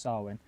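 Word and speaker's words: Samhain: Celtic pagans had a had a festival called sawin which was pronounced like it spelled like Sam ha but it's it's well it's spelled Sam ha it's pronounced swin but it's basically to celebrate the end of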